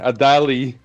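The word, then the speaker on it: Adalı: Time out Khan because before you give Sarah Dali the the Adal the I don't want to be the American pronunciation. Adali.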